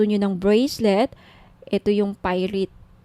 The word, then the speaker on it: pyrite: now if gusto niyo ng bracelet ito yyung pirate pyrite sorry pyrite yung iba pronunciation pirate pite Okay 1,980 may may kasamang